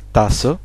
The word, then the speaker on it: Tasse: Tasse, on vient de le voir ici, le mot Tasse, il prend le E final. Donc on le prononce, le E final. Tasse, die Tasse, hein, c'est féminin.